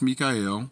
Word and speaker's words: Michael: Michael, spelt Michael, but pronounced Mikael.